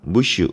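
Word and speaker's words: Monsieur: 비평가는 심지어 이렇게도 말했습니다 이것도 프랑스 합니다 n 발음이 안 나더라구요 무슈 라고 해서 모든 프랑스 사람들 미스터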